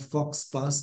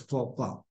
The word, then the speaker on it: faux pas: It's not faux pas, but faux pas.